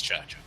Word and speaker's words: Chacha: We're not going to get into what I had to do to actually solve the riddle of the pronunciation of her name, but it's Chacha.